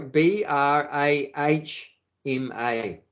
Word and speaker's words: Brahma: a m no sorry b r a h m a with a long a on the end Brahma Brahma whereas the soul is called Brahma short a Brahma same spelling but short a Brahman Brahma means the soul